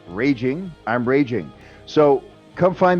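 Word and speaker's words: Rage Ing: website yet but uh my name is rage r-a-g-e my last name is ing which is spelled n g pronounced raging i'm raging so come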